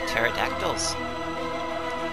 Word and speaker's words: pterodactyl: promised land folks pterodactyls and yes as a child I did pronounce the p in pterodactyl that and I called them